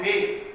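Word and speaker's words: baye: So in Liberia, the Dan tribe, D-A-H, Dan tribe will call cassava bay, B-A-Y-E, as pronouncing B-A-Y-E.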